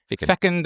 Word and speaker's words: fecund: Am I pronouncing that word correct? Fecund imagination.